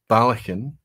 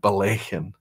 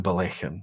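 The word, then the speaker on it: Ballechin: it from Balakin to Balakin. So it's the second syllable. However, if you say Balakin, nobody's going to deny you a dram.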